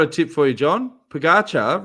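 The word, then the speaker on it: Pogačar: John Pagatcha rhymes with Ficasha.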